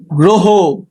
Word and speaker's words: গ্রহ: 5 নম্বর নিয়মটা দেখো, শব্দের প্রথমে অযুক্ত র ফলা থাকলে সেক্ষেত্রেও শুরুর অ এর উচ্চারণ সাধারণত ওকার হয়ে থাকে।